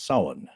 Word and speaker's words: Samhain: I'm working on getting him his own social security number, but it's spelled Samhain, but it's pronounced Samhain.